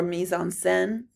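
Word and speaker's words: mise-en-scène: Color theory is part of the mison scene or mison sen if you want the French pronunciation.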